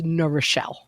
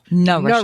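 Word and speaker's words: New Rochelle: Yeah, the correct pronunciation is Nurishelle. Nurishelle.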